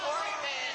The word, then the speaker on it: Hortman: Melissa Horman. Melissa Hortman.